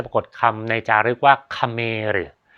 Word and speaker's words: เขมร: คำ ใน จารึก ว่า คเมรึ สระเอ ข ไข่ ม้า ร เรือ นะ ครับ อ่าน ว่า คเมริ ซึ่ง กลุ่ม คน กลๆ่